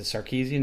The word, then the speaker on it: Sarkisian: I think circuit means the sarkeesian is how you pronounce it he's still there sarkeesian